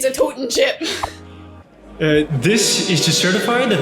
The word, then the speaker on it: Totin' Chip: Tootin' chip. It's pronounced Toten chip. It's a totin' chip.